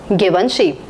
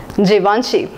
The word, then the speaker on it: Givenchy: you what do you think it should be pronounced as Givenchy or given sheep both are wrong the right pronunciation is Givenchy Givenchy Givenchy is a French brand and it